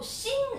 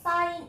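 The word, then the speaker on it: sin: 합니다 자 요거 어 무슨 라면도 아니고 신 a 뭐 이렇게 읽는 친구도 있는데 라면 아니에요 사인 a 아고 정확하게 읽어 주는 충격 받았잖아 자 그다음에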